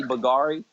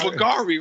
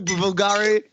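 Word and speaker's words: Bvlgari: Yeah, like somebody not knowing how to say Bulgari. And then they say they try to sound it out how it's. They pronounce the V. This that Bulgari right here.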